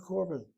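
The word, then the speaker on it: קָרְבָּן: In class, it was korban, but in the synagogue, korban. So that's the correct karaban. Is the correct pronunciation if you're doing Sephardic?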